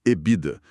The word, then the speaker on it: EBITDA: O artigo gira em torno dessa sigla que o mercado costuma pronunciar como ebida com a fonética puxada pro inglês mesmo.